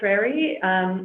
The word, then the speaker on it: Trarie: Well, you already stated my name. You got the pronunciation perfect. Okay. So thank you for that. You got all the vowels in there.